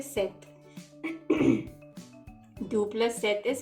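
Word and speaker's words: sept: we say six and four seven we say set and for eight we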